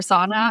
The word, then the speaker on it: Sana: to choose basically because my name is pronounced a little bit different in Swedish, but I had to choose when I moved here if I wanted to be steam room or Santa Claus. Like, do I want my name to be pronounced Santa or sauna? And sauna seemed like the the least bad of those two options.